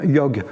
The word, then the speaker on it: yoga: on fait du yoga en sanskrit on prononce pas du tout le final on hindi en bengali